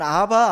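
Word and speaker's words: אבא: 하나님을 아빠 라고 불렀습니다 아빠 란 말은 우리나라 말과 똑같아요 그러니까 우리 옛날 번역 에선 아바 아버지 라고 번역을 했는데 아빠 아버지의 원래 원래 발음대로 하면은 우리가 엄마 아빠 때처럼 헬라어 3도 하나님을 아버지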